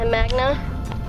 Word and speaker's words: Magna: a Nitro Magna Charge I think I said it right did I yeah I did Magna cuz he's magnetic magnetic yep see same thing